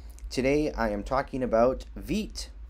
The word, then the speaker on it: Vite: I am talking about Veet it is spelled v-i-t-e but it is pronounced v-e-e-t so what is Veet